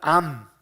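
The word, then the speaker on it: עם: 단어는 한번 따라해 보실까요 암 암 히브리어로 우리 안암 걸렸어 라고 해 됐으니까 암처럼 발음이 암 이에요 히브리어로 암 이라는 단어를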